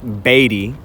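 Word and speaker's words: Beatty: keep going that way you'll find yourself in batty Nevada it's pronounced batty I spend a lot of time in batty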